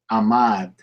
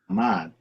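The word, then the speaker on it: עמד: The Hebrew word is amad, to stand. Amad. Now, because the first letter is silent, oh, I keep doing this. Because the first letter is silent, you're not pronouncing anything.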